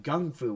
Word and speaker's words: Kung Fu: I also learned that in China it's not pronounced Kung Fu with a K it's pronounced Gung Fu with a g g Fu Gung Fu